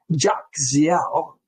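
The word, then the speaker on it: Jahzeel: Naphtali, B'nai Naphtali, Naphtali's seed, according to their families, were Jokziel, is how you say that, the family of Jokzielites, Guni, Yezer, and Shalem.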